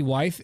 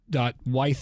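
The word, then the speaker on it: Wyeth: Wythe, N.C. Wythe, and that's spelled W-Y-E-T-H if you want to look him up.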